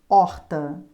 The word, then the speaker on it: horta: cvrn sorvete srvt observação a letra h não é consoante porque ela sozinha não tem som por exemplo horta quando você pronuncia a palavra horta Você nota que a primeira o primeiro som que aparece é do o porque porque o h